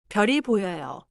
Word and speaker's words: 별이: keep별 and e connected but still clear. 별이 보여요.